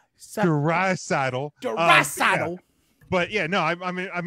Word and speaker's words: Draisaitl: Well, I am impressed that he did get Leon Draisaitl's name pronounced correctly. He practiced it while he was giving the time he said, he's like, Draisaitl.